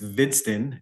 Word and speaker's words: Hvidsten: It's Hvidsten, and the H is silent.